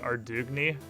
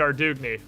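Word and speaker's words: Ardougne: can figure it out there's a voice acting quest in runescape three that pronounces it arduiny well if it's fantasy france and the the npc and runescape 3 isn't from arduiny that's also how i would pronounce it because i am an american and i speak burger and if you translate that into burger you get our doughny so it makes sense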